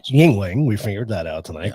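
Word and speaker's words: Yuengling: it's got a great name it does it's pronounced Yingling we figured that out tonight because we were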